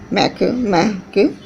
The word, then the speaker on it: Makemake: They are Ceres, Pluto, Eris, Makemake, pronounced as Makemake, and the Humania, Mia, pronounced as O, May, Ya.